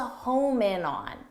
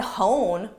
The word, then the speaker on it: hone: The expression is hone in on. So make sure you get that both in pronunciation, hone, and in spelling as well.